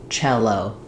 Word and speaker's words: cello: First syllable stress, so chel is long and O is short. So letter C normally says either the k sound, like in cat, or the s sound, like in cell.